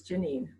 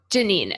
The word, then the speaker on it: Janine: It's Janine. Janine.